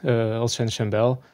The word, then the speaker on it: Alexandre Chambel: Alexandre Chambel, and I'm sure I did not quite pronounce that right. Could we have the tone for his name that he says himself? I'm Alex, Alexandre Chambel.